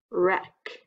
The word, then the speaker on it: wreck: The word is wreck, like to make a mess.